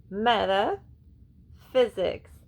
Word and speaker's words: metaphysics: Okay, this one is actually pronounced meta. Meta physics.